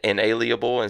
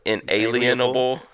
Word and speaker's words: inalienable: podcast back and like I've always said it my whole life is in a Lia Bowl that's like I know